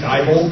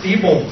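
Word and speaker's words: Diebold: inally I don't know I'm fond of saying dbol because I want these people to die but it's actually pronounced deol their slogan is Never say die so how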